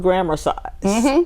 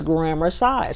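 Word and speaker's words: grammarcise: up one morning with grammar size spelled the same way as exercise g r a m m a r c i s e so it's grammar size so flex your grammar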